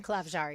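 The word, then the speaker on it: Klavžar: You'll see him out there a little bit more when it comes to, how do you say it, Klavjar? Klavjar, yeah.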